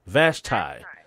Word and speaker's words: Vashti: Vashti? You're close. It's Vashti. Vashti.